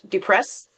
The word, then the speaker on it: depressed: So, right here you have the s sound, depressed, right? So, this is pronounced like t.